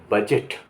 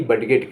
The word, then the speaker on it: budget: BUDGET बजट, बजट ना कि बडगेट कहा जाएगा, बजट, बजट हो गया।